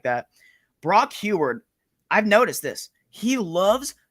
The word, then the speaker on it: Huard: name he's a former quarterback for Washington oh heward is it heward yeah thank you Brock Huard okay so I want to make sure I pronounce that name correctly before I I'm mispronouncing